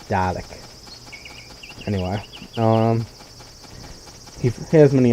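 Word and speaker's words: Dalek: A L E K so it's not daric it's doic anyway um he has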